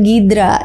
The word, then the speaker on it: Hydra: Hydra Hydra hidora Terus kalau dalam pelafalan Rusia disebut dengan gidra jadi walaupun pelavelannya beda-beda